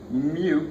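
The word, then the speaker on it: μ: But it's a little U with an extra leg on it, and you pronounce it mu, so it sounds like a French cow normally.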